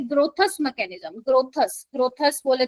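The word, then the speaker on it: Grotthuss: ग्रोथस। ग्रोथस बोले तो स्पेलिंग मैं बता देती हूं।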